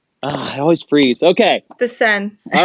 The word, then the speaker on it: Seine: So while we're on this, How do you pronounce the river going through Paris? The Seine? Okay. I always freeze. Okay. The Seine.